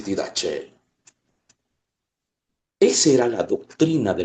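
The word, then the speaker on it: Didaché: No se escribe con la CH, pero le leen así, didache.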